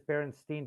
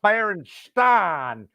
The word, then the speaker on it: Berenstain: is no no no no all everybody knew it as berenstein berenstein no white dude in no white family in the ozarks is going all right kids come here and read the berenstan when it's spelled ain but if you ask them they know it was stein because they thought the